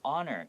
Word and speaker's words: honor: So honor here, even though it starts with an H, you don't hear the H.